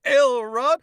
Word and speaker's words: Elrod: to meet you son my name's elrod accent on the l not on the rod no i mean you